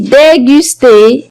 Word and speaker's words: déguster: On a aussi déguster. Vous remarquez, la lettre G est suivie par la voyelle U. Alors, on la prononce comme G.